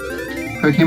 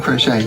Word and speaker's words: croquet: It's croquet mallets. Is that how you pronounce it? Not crochet.